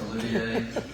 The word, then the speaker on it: Olivier: Looks like Oliver, but it's not. It's Olivier.